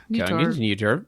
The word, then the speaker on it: Kongens Nytorv: No, you don't say the whole V. You just say like a little. Every sound at the end of Like the just a- thing, you only say like a hint of trail it. off. The lightest hint of the.